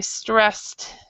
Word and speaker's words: stressed: So you do not actually have to pronounce this e right here. So Alex is very stressed these days.